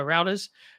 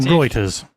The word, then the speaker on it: Reuters: This is reported by Routers. Sony Interactive. Reuters. Oh, whatever. I always say it wrong.